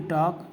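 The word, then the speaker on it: talk: वॉक कहेंगे जैसे कि टॉक टी ए एल के टॉक टॉक में के के पहले एल आया है तो भी वो साइलेंट हो गया।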